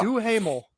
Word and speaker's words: Duhamel: Duhamel. That's how Josh you pronounce from it.